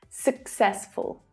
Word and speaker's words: successful: more strongly, while the first syllable is short and lower in pitch. Success. Success. The final syllable is also unstressed. Full. Successful. Successful. The pronunciation is the same throughout the word family. Success, successful, successfully. And as frustrating as it is that the same letter is pronounced differently in the same word, just accept it, practice it, remember it.